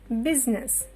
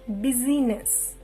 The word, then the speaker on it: business: Next one, business. It is not busyness. I is a complete silent letter here.